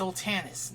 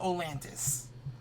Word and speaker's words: Oltanis: It's Oltanis, not Olantis.